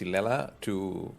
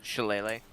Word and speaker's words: shillelagh: So if I want to cast Silela or how it's pronounced? Shillelagh.